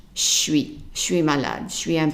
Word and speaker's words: malade: Malade, and the E at the end is silent because there are more than one consonant.